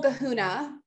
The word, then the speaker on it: kahuna: But if you really want like the whole kahuna, is that how you say it?